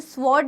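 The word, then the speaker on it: sword: Power of द स्वॉर्ड का मतलब तो पता है, स्वॉर्ड मतलब होता है तलवार, इसे स्वॉर्ड नहीं कहते, इसे स्वॉर्ड कहते हैं, इसमें W साइलेंट होता है, ठीक है।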